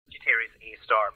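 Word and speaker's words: Sagittarius A*: Sagittarius A star because the star represents the fact that it's a very high energy radio source. The star is, you're supposed to pronounce it, just so you know.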